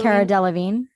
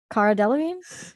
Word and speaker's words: Cara Delevingne: Cara Delevingne. Cara Delevingne.